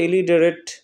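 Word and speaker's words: illiterate: elite elite অর্থ নিরক্ষর elite এখানে টেরেট হবে না উচ্চারণটা হবে যে ইলিডারেট নিরক্ষর তো নিরক্ষর কে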